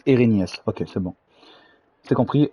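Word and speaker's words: Erinnyes: Ok, ça se prononce Erinius.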